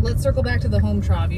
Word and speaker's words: Hometrov: Yep so let let's Circle back to the home Trove you said you're going to tell us how